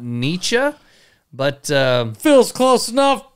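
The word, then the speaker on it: Nitschke: by this cat named philip that good huh nietzsche oh come on really my german pronunciation the the all not good the only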